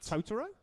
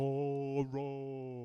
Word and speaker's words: Totoro: The show I went to see with him the following day was My Neighbor Totoro. Well, you fucking pronounce that right. Totoro?